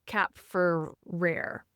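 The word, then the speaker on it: Kapferer: author named Jean Noel Capere. Caperrer. That's that's right. is K A P F E R E R, but it's actually pronounced cap for rare because I think that it's French.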